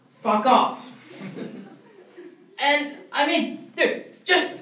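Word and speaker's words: Phucof: Pronounced Fuck Off.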